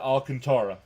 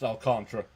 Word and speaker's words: Alcantara: I pronounce it Alcantara, but it's actually pronounced Alcantra.